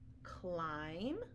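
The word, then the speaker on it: climb: to remember these tricks so for example crumb Clym comb thumb limb and lamb you don't hear a buck but sound at the end so these are only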